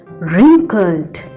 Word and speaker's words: wrinkled: Here, children, W is silent. We pronounce it wrinkled.